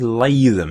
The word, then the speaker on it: Latham: And we're playing with, I think it's Latham is the correct pronunciation. I've been saying it wrong, I do believe.